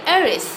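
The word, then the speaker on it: heiress: is known as aerys look here it is starting with h but it is silent here we will say eris ornithologist ornithologist is a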